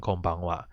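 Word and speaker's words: こんばんは: so in this case actually pronounced as konichiwa and konbanwa but because for there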